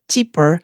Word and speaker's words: Chipeur: Today, my special guest is Gerald Chipeur. Did I pronounce your name right?